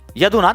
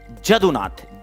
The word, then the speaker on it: जदुनाथ: नहीं बेटा, यदुनाथ सरकार नहीं है, जदुनाथ हैं, जे हैं। Ayush Singh UPSC aspirant. कुछ लोगों ने लिखा है यदुनाथ, नहीं बेटा, जदुनाथ, जेएन सरकार।